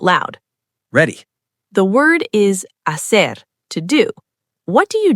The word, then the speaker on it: hacer: The word is hacer, to do. What do you do with the H? Pause. Silent. Just hacer. Ignore the H completely.